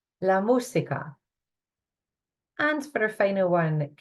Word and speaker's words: música: Accent in the U here this time. Listen to it carefully and try it after me. La música. La música.